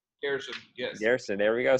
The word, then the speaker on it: Gairson: And is that pronounced correctly, Gairson? Gairson, yes.